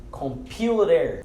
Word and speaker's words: computer: Computer. Esse T de computer, ele tem um som muito similar ou bem parecido ou até pronunciado muitas vezes como um D de dado. Então, computer, computer.